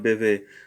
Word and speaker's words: bebe: Yes, so una niña bebe agua. Notice here that the B is pronounced as a V, so the second B, of course.